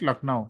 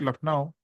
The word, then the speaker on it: Lucknow: Yes, Though your family is staying at Lucknow, Lucknow. then you should not emphasis on the first part. You can say that your family is staying at Lucknow.